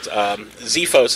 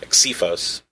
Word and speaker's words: Xefos: exorcists there's actually a couple different ways to pronounce it Xiphos is what I tell people because it's like Xerox you know just it's kind of